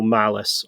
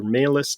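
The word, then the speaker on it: Malleus: hunt down demons is the Ordo malice or order malis depending on how you choose pronounce it and these are the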